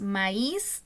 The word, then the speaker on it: maíz: La mayor concentración de fuerza queda en la última sílaba. Entonces, maíz es una palabra aguda que se tilda, aunque termine en Z.